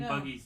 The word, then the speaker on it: Buggy: chapters later and you're like what and getting Buggy's name wrong for Luffy is just it's par for the course Boogie got me I was like I that was